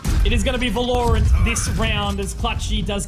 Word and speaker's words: Valorant: We all call it Valorant, which is because of the emphasis on the A, you would think that it would be a double L, right? So technically the pronunciation for it is Valorant with no double letters coming in.